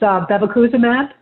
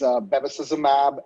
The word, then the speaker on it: bevacizumab: I know it's a combination of therapies - it's bevacuzimab and atezolizumab or so. If you would correct my pronunciation and then we can start in. Yeah the names do keep getting more and more complicated as the years pass but yeah the the first combination drug is bevacizumab and atezolizumab and then